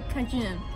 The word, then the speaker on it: Cajun: Se escribe Cajun, yo le diría Cajun. Nosotros le dijimos que damos unas Cajun y la señora nos corrigió. Cajun, algo así.